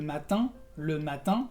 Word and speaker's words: matin: También le matin, que es el sonido de la E nasal.